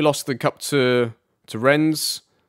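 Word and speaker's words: Rennes: the cup to to Ren's or when I was told not to pronounce the S uh but yeah that's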